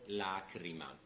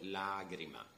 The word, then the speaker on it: lagrima: In modern Italian, you will listen to the word lacrima with a C, okay? But here we have to pronounce it with a D. So, lagrima.